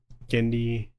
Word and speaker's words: Genndy: It's not a Gen situation. Gendy, I guess it could be.